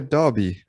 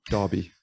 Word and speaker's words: Derby: in london you're in derby or derby how do you pronounce that yeah darby um i know it's a difficult one for you australians but yeah derby that's the way you pronounce it the slanter doesn't